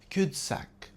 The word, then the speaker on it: cul-de-sac: Google Maps led us into a culde-sac, insisting it was a through road. His theory led into a philosophical culde-sac with no answers in sight. It's originally a French phrase pronounced cud sack literally meaning bottom of a sack.